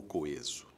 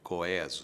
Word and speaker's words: coeso: antigos só se encontrava essa recomendação de pronúncia que parece estranha hoje coeso você vai dizer como é que isso aparecia nos dicionários aparecia a palavra e entre parênteses um É com acento agudo Porque de fato Essa é a pronúncia clássica erudita não sei o quê mas o povo nunca entrou no na onda do coeso e felizmente os dicionários se renderam e hoje indicam as duas pronúncias como perfeitamente possíveis coeso ou coeso coeso